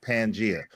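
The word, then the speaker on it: Pangaea: Hey, first first of all, first of all, the crazy thing is is pronounced pangia.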